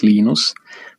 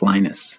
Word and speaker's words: Linus: your preferred pronunciation um when i speak swedish it's genus when i speak finnish it's linos when i speak english it's linus and i really don't